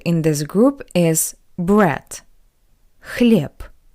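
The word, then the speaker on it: хлеб: this group is bread clip clip not but clip PP because the voice consonant b b is at the end of this word that's why it's read like the voiceless consonant PP bread clip next word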